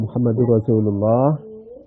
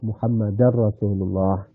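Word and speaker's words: مُحَمَّدٌ رَسُولُ اللّٰهِ: kadang-kadang salah kalau Lailahaillallah Muhammadur Rasulullah itu Muhammadur itu harus dibaca Rafa jadi jangan dibaca Lailahaillallah muhammadar rasulullah itu di kota-kota besar itu biasanya dibaca Lailahaillallah muhammadar rasulullah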